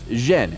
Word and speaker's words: Yen: also known as Canton in the Beijing dialect his surname is pronounced Jen and yen is the Cantonese pronunciation the father of the